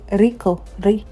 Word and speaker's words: rico: So you say rico instead of saying rico, you say rico. It's more or less like the tip of your tongue will find its way at the upper part of your mouth, but it's going to, let's look at the upper part of your mouth. Let's say you're going to your third side. That's where your tongue is going to touch.